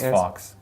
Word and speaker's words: Fawkes: I don't know how it's pronounced. F-A-W-K-E-S. I thought it was Fox. I think Fox.